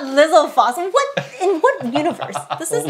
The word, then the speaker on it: Lizalfos: It's not Lizalfos. In what universe? This is Lizalfos. Who is pronouncing Lizalfos and who's rating them?